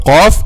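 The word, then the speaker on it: ق: So letter qaf and letter kaf, both of them are pronounced using the back part of the tongue or the deepest part of the tongue, okay? But al-qaf is deeper than al-kaf.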